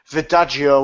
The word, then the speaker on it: Verdejo: It's Verdejo with a vajazzle or whatever. Like Joden or whatever in Spanish. The J is like an H.